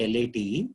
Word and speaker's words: Late: Late, it's not Mr. Late, L-A-T-E, he's a Maharashtrian, so they pronounce it as Late.